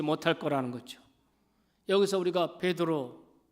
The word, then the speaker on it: 베드로: 여기서 우리가 베드로, 이 베드로는 우리말 발음입니다. 헬라 발음은 페트로스, 그리고 아람어로는 게바입니다.